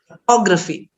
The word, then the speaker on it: photography: shot what is stressed on and said louder and for a longer time prolonged that is photography okay let's say this